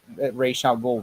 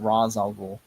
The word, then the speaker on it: Ra's al Ghul: Just like they trade Ra's al Ghul, Ra's al Ghul. Yeah, they always do different pronouncing.